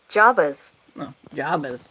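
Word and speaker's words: Jabez: Okay, so let me turn up my volume so you guys can hear it and we'll see how it's pronounced. Jabas Jabas.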